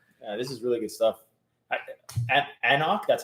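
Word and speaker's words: anCnoc: is really good stuff anak that's how you pronounce this these scots eh not silent in letters yeah a knock you don't knock yeah you don't pronounce the first c yeah yeah there you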